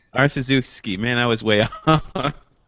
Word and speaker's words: Arciszewski: I've never heard it pronounced before, but let me try it again. So it's Arciszewski. It's actually Arciszewski. Arciszewski.